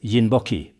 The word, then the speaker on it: Rinpoche: Some people often pronounce it as yinboki, a unique pronunciation. This precious treasure, often referred to as the wishfulfilling jewel, a sacred and potent symbol, is none other than rimpoche, a revered and enlightened spiritual master.